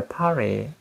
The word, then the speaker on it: party: 이때도 왜 파티가 파리로 발음되느냐 하면 T 발음이 안 나는 거야. 터뜨려 버린 거야. 그러니까 T 발음이 뭘로 바뀐다? R로 바뀌어버리기도 하고.